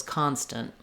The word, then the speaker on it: constant: very short, and then that shows you that I'm making that T sound. So it was constant. The constant interruptions are a problem.